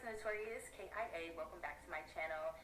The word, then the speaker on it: Kia: Like, hey everyone, it's Notorious KIA. Welcome back to my channel. My name is pronounced Kia, not, because some of you girls do try it.